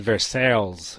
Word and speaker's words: Versailles: It's the way I pronounced it, like in the 5th grade when I came across a history book, and I was immediately corrected. It's Versailles, it's French.